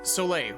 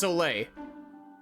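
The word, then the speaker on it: Soleil: radiant today yep so or solay right but it's like spelled like s o l i e l or something it's soay oh yes I've started washing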